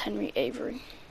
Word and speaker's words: Avery: correctly my bad guys sorry but yeah it's henry avery i know that now and i will not mispronounce it and if i do uh pretend